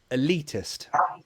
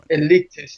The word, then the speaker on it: elitist: le elitist good yeah the first sound the first syllable is a schwa a elitist elitist yeah yeah yeah I'm